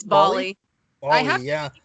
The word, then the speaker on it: Bali: It's Bali.